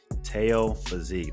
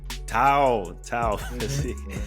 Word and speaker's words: Tao Physique: Muchacho Ringmaster himself, Teo Physique. That's how you pronounce it, right? Teo. Now, Tao Physique.